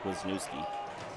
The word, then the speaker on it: Wisniewski: Jay Klabunde told me it pronounced Wisniewski. And to make sure I got that right this game, it's Eric Wisniewski.